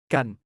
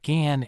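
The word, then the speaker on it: กัน: That's exactly what gun does in Thai. Gun, pronounced like gun, but with a softer sound, almost like gan is your ticket to sounding natural and connected when speaking Thai.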